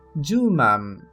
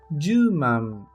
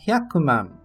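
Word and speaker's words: 十万: Só precisa ter o cuidado quando o número é 100.000, pois falamos juman, juman, e não hyakuman, pois hyakuman é 1.000.000, por isso tome cuidado.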